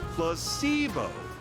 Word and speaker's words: placebo: to our vocabulary today repeat after me Placebo the stress is on the middle C plus saber very good you're figing